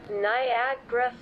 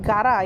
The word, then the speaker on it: Niagara: Okay, listen again. Niagara Falls. Okay, that's how you pronounce it. Niagara Falls. Bukan not Gara, yeah, it's Niagara Falls.